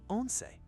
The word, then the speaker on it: once: It's actually the number 11, pronounced once it.